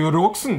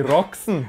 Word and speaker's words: Roxen: Für Rumänien tritt Roxen an. Ich glaube, sie wird so ausgesprochen. Die Roxen, die können aus Minga kommen. Ja, mei, die Roxen.